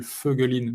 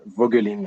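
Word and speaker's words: Voegelin: mes compréhension entre nous celui que tu appelles vaugelin moi je l'appelle feugueuline mais c'est bien la même fogging c'est cela prononciation allemande de son nom et ça c'est un philosophe auquel se faire souvent Cavalo en français ça c'est la prononciation vogelin ok très bien feu Gallino en allemand mais si tu dis vaugelin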